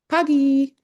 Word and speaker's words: pagi: I mean you could spell that but pagi is p a g i. Pagy.